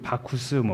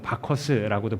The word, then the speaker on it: 바쿠스: 로마 신화에서는 이제 술의 신 바쿠스, 바커스라고도 발음하는데 그런 신이었어요.